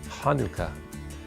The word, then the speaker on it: Hanukkah: that'd be pretty cool the name chanukah can be a challenge especially in an american vernacular because the sound isn't there so when you try to spell it some people spell it scientifically where an h stands for the sound but it's not it's actually ha so if you're being very careful it's hanukkah but that's even hard to hear hanukkah hanukkah it's a